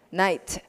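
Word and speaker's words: knight: 좀 더 마른 것 kn 이렇게 나오면 k 는 다 묵음 이에요 그러니까 이렇게 되면 뭐라고 이것이 겠어요 나이츠 4 이나 에서 밤에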